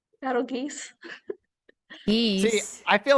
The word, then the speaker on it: Betelgeuse: yeah, the star is Arabic for armpit of the giant, so it's Betelgeuse. Battle geese.